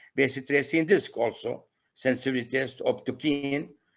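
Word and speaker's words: optochin: We have this reaction, bacitracin, optokine sensitivity test, bacitracin disc also, sensitivity test, optokine. Some people pronounce it as optogene and bile solubility.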